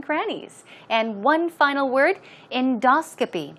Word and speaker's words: endoscopy: example okay now pronunciation stress goes right there on the second syllable it's endoscopy endoscopy all right okay let's check